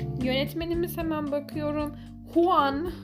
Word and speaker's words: Juan: yönetmenimiz hemen bakıyorum huan diye okunuyor sanırım Juan diye yazılıyor Çünkü şu an şu